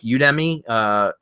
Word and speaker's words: Udemy: Plus, you can also go to like Udemy, Udemy, or I don't know how to pronounce it, but it's UDEMY.